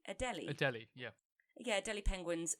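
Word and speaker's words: Adélie: colony of 60,000 I don't know how to pronounce this. Maybe you do. It's Adelie. Adelie.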